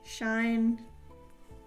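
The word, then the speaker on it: Shein: It came on like a cheap keychain AirPod case that I got off of I think it was Shine. However people pronounce it. I pronounce it Sheen.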